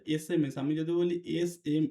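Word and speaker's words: SMS: আসে কারণ এখানে দেখো এসটা কিসের মত উচ্চারণ হচ্ছে এসএমএস আমি যদি বলি এস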